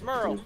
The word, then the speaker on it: Merle: Yeah, it's Merle. Rhymes with hurl.